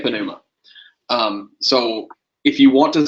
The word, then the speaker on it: pneuma: the other day, because do you pronounce that first letter or not? Is it pneuma or is it pneuma? So it depends on who you talk to. If you want to use strict Erasmian pronunciations, it is pneuma.